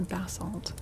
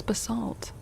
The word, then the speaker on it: basalt: Oh, the the British pronunciation puts the the emphasis on the first syllable.